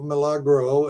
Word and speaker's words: Milagro: is it Milagro probiotic is that how you pronounce them yeah Milagro and let me point this out yeah but